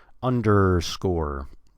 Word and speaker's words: underscore: there's a the word the word under is spelled with an E before the r but we but do you want to skip that we go directly from the D to the r der underscore score is spelled